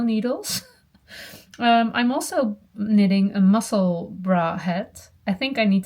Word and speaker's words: Musselburgh: I always say muscle bark or muscle burrow, but it is like Edinburgh. No, a bra is something else. Muscle bra.